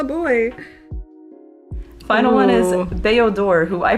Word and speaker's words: Bao-Dur: Bao-Dur, who I pronounced his name wrong the whole video up until now. My name's Bao-Dur.